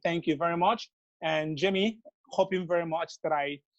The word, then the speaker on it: J'aime: J'aime that's the deal right there.